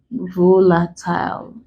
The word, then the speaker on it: volatile: We're stressing the first syllable of the word when the word ends in these letters.